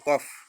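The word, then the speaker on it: cough: কফ তাই না কিন্তু এটা এফ থাকবে না এখানে এফ নাই কিন্তু উচ্চারণটা এভাবেই হবে সি ও ইউজি এইচ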